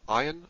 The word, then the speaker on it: Ayin: Ayin, like the Aleph, is a silent letter. Some will pronounce it as a deep guttural letter, Ayin.